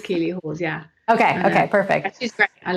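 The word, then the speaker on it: Keeley Hawes: Is that how you pronounce her last name? I would never have guessed that name. I had her pegged as a Lisa, but it is Keely Hawes.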